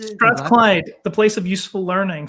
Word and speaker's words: Strathclyde: And then was it Sorry, how do you pronounce the name of the university that you went to? Strathclyde, is it? Strathclyde, the place of useful learning, so they say.